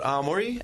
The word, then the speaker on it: Aomori: The prefecture's called Aomori, and the place I live is called Hirosaki. Hirosaki.